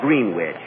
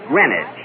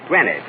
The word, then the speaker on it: Greenwich: Kenny, that's not Greenwich. You see, here in New York, it's pronounced Greenwich. Greenwich, see?